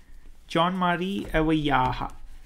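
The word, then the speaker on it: Jean-Marie: chapter four john mari so that's the french pronunciation of uh richer wiser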